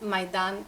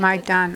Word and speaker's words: Maidan: And as I understand it, and I'm probably not pronouncing it right, could you pronounce it again? It's Maidan United. Maidan.